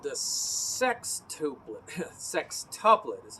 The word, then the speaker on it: sextuplet: But let's talk about a tuplet called the sextuplet.